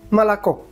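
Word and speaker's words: молоко: l o k o molocó. Pero como solo la última o es la tónica, las otras o se leen casi como una a malac.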